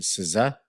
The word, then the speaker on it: SZA: SZA, like a scissor.